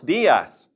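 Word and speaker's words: días: And notice that diaz has an accent over the i. So stress it.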